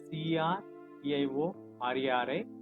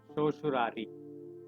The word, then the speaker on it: certiorari: It is written as CERTIORARI, but it is pronounced as certiorari.